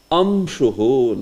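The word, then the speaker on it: अंशु: So when you pronounce it, it may sound something similar like ma also. So that's okay. That's not so much a problem. But it is slightly nasalized. Amshuhu, like that.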